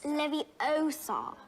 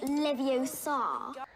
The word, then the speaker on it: Leviosa: have been several days you're saying it wrong it's leviosa not leviosa and i feel like